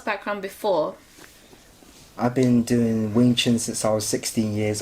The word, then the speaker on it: Wing Chun: Wing Chun.